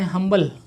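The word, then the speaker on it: humble: यहाँ आप देखिए फर्स्ट लेटर यहाँ पर आपका साइलेंट है, एच जो कि आपका यहाँ पर साइलेंट है।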